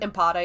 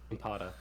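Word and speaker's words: Ampata: Impata, yeah. Impata. So you got to do it with the American accent, otherwise it just doesn't sound right.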